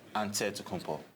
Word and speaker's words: Antetokounmpo: in a real way you gotta say with the d so it's added to but in the greek way you say with the nt like antetokounmpo whatever you got just